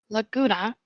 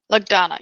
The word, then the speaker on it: Lugdana: During this time, a paladin by the name of Laguna. I'm doing my best to pronounce the name correctly, so forgive me. Lugdana? Lagdana, yes.